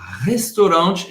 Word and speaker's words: restaurant: Próximo ambiente, agora estamos no restaurante em francês, o restaurant. O restaurant, presta atenção, o T no final é mudo, o restaurant. Hein?